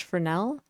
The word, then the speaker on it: Fresnel: So, jumping right in, the Fresnel effect, it's spelled Fresnel, but it's pronounced Fresnel because French people.